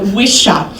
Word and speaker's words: Wicha: that's drew our friend Jason wisha you have your pron your name pronounced all sorts of ways yeah so wisha so Jason is has